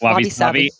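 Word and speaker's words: wabi-sabi: Is that pronounced right? Yep, wabi sabi.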